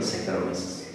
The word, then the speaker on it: Saccharomyces: Repeat after me, Saccharomyces. CH suena como K.